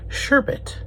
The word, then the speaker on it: sherbet: it was wrong now they say the correct way to say it is sherbet I have never heard anybody say it that way before the way I say